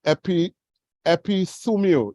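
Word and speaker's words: ἐπιθυμέω: Now, in the Greek, it is pronounced epithumio, E-P-I-T-H-U-M-E-O.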